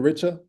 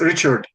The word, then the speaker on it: Richard: That's how you pronounce it, Richa? No, it's Richard.